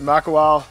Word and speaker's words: Makawao: So we just finished up here at Makawao State Forest.